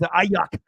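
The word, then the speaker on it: Aiyuk: And it's Ayuk, or he doesn't even know how to like.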